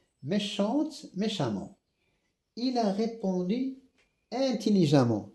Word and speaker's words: intelligemment: Il a répondu intelligemment. Même si c'est écrit E, je prononce A comme ici, fréquemment, prudemment, évidemment, même si c'est écrit E, je prononce A.